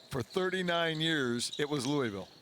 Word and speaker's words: Louisville: Louisville Kentucky Louisville Kentucky we did lose a syllable over the years it used to be Louisville now it's Louisville and legendary Freedom Hall